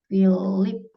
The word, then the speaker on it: Philip: Itu contoh-contoh penggunaan P ketemu dengan H, maka dibacanya menggunakan F. Ini termasuk juga nama orang. Phil, Philip, Filipe, semuanya ya. Kayak gini. Philip, ini kan Philip bacanya, bukan Phil, bukan Phil, Philip, bukan Philip.